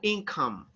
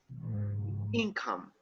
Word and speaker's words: income: are acceptable income but you have the stress on the first syllable income income another word that you